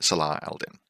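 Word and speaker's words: Salah ad-Din: We then have a Sundukbut Neurokinetics and Saladin, or if you want to pronounce it accurately, Salah Aldin.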